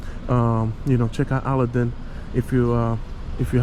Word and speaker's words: Aladin: you know check out Aladin if you uh if you haven't Aladin Aladin excuse me in French it's aladan so aladon treasure Treasures